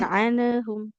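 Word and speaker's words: عنهم: Di anhumnya hati-hati ya. Jangan anhum. Anhum lebih mengalir bunyi huruf nunnya.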